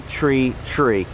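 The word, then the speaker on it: three: They pronounce the runway numbers individually. So runway, actually in aviation, is what runway tree, all right?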